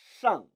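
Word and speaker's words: 上: 라고 인지하게 됐던 얘기입니다 따라 읽어 보시죠 쌍 쌍 권 30 잘못 하시면 사회에 불만이 있는 발음 나옵니다 주의하세요 따라서 한참 알고 계시죠 쌍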